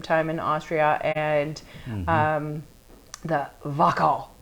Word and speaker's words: Wachau: We spent some time in Austria and the Wachau. Wachau. W-A-C-H. A-U. It's it took me forever like trying to pronounce it correctly, but it's a gorgeous area,